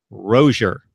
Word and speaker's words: Rosier: Rosier, correct? That's what he said, but you know, my full name is, but people call and.